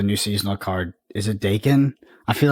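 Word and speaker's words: Daken: impact of the new seasonal card is it Dakin I feel like it's it's it no one knows what it is but it's provocative yeah it gets the people going it's it's Dakin I don't care I don't care if you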